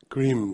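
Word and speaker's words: krim: eating we are pronouncing the mantra cream the mantra in sanskrit cream ca k-r-i-m an easy way to understand is if you like cream just but now that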